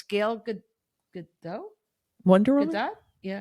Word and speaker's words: Gal Gadot: And it's The Rock and it's Gal Gadot?